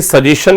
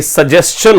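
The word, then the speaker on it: suggestion: सजेशन, तो मेरे पास आपके लिए एक सजेशन है, तो माय डियर स्टूडेंट, ये सजेशन नहीं होता, ये सजेस्शन होता है। सही प्रोनाउंसिएशन क्या होता है? सजेस्शन।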